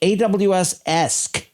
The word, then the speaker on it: AWS-Esque: Note that AWSC is pronounced AWSesque because this is kind of AWSesque.